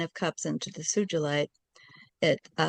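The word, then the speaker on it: Sugilite: Sujilite.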